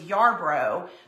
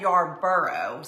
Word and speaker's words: Yarro: Linda Scarboro, that rhymes with my maiden name, which was Yarro, but people always said Yarboro.